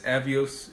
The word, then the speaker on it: Avios: And if you're brand new to this, Avios is what British Airways calls their miles.